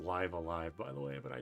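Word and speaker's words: Live A Live: I know it's pronounced live alive, by the way, but I don't like saying that.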